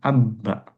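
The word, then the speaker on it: أبّ: kata seperti ini ya, ada hamzah kemudian ba sukun ba fathah. Bacanya abba. Abba ya. Orang Arab ketika ada dua huruf sama dan yang pertama sukun, yang kedua berharakat, maka mereka idghamkannya, meleburkannya. Yang ba yang pertama dilebur ke yang kedua sehingga menjadi katani musyaddadan.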